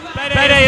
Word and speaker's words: Bede: Bede is pronounced Bede.